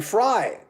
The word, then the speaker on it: Frey: name i don't care glenn frye in the 70s i said glenn frey because it was it was before the internet but it was fry uh glenn sharok of